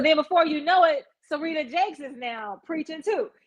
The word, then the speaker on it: Serita: TD Jake's wife name Serita. It's Serita. S E R I T A. And so then before you know it, Serita Jakes is now preaching too.